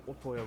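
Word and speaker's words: Ootoya: Also, I keep pronouncing Otoya wrong. It's Otoya.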